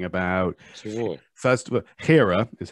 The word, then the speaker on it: Hera: Gera. No, what are you talking about? Чего? First of all, Hera is how you pronounce it.